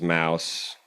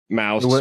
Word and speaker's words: Mauss: him we had been pronouncing his name in the Deutsch manner instead of in the in the French manner so Mouse mous it was josco